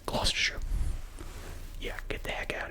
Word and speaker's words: Gloucestershire: But it's pronounced Gloucestershire.